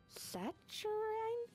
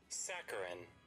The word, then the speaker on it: saccharine: Saturine? Do you have a pronunciation, Google? Saccharine. Oh, it's saccharine.